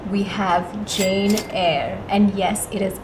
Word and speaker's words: Jane: At number 4, we have Jane Eyre.